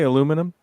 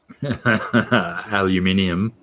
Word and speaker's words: aluminium: can you say aluminum aluminium aluminium how do you get aluminum from the spelling of i think americans have eliminated the um second eye from the word so it it is just num at the end isn't